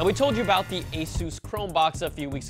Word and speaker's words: Asus: final word from them Asus repeat once again Asus thank you see it's not Asus or Asus it's Asus and you know I